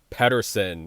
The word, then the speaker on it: Peterson: too far from France we have Rebecca Patterson if you're from the eastern part of the world here in the states we pronounce that Peterson's he's taking on iranza